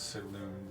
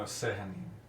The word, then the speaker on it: Sehanin: The two gods that were mentioned, I believe it's Saloon, the Moonweaver is how it's pronounced. No, Sehanin is the Moonweaver.